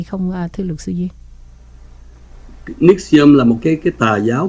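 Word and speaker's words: NXIVM: Nhưng mà khi đọc thì cái cách đọc của người Mỹ họ đọc là Nixium.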